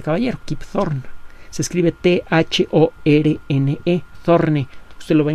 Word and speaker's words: Thorne: Se escribe T-H-O-R-N-E, Thorne.